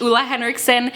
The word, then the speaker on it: Ole Henriksen: skin care exclusively and yes that is the proper way to pronounce Lua Henrickson if you are new